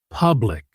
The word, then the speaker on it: public: The letter U in public isn't a U sound. It's a short soft sound, almost like the U in up. It's pooh.